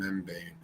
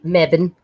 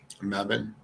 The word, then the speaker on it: Mebane: elements high school and membane bubane is that how you say it my Bane it's um Mebane Mebane been to a lot